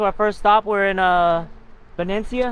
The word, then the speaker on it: Benicia: We're in Venecia. How do you guys pronounce it? Venecia. Some people, yeah, some people say Venetia. Venecia. I call it Venecia. People call it Benicia. Some people call it B.